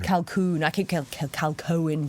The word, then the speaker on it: Calkoen: your surname because i keep saying it wrong calcoon calcoon i can't kill cal cohen but i need